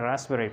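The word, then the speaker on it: raspberry: इसको हमने साइकोथेरेपी पढ़ा है और इसको हमने रास्पबेरी पढ़ा है। तो इसमें पी साइलेंट है।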